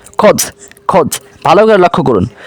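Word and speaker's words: خود: কাজেই এর উচ্চারণ হবে খদ।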